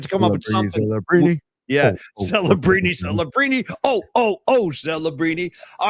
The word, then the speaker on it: Celebrini: Well, Celebrini. That's a 4-syllable last name. We had to come up with something. Celebrini.